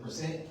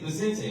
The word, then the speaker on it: Vicente: Did I pronounce it Percent? Close. Vicente, okay.